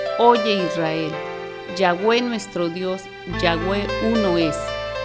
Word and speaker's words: Yahweh: Ahora vamos a ver ya los nombres compuestos como Yahweh Elohim, y en Génesis 2.4 encontramos Yahweh es Dios. En algunos lugares dicen Yahvé es Dios.